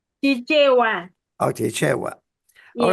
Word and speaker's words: Chichewa: That's in Chikwea language, correct? Chichewa.